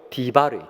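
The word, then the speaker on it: דביר: 하나님의 임재가 있는 지성소가 히브리어로 디바르예요. 디바르. 그러니까 광야 미드바르는 말씀 다바르와 지성소 디바르와 어원이 같아요.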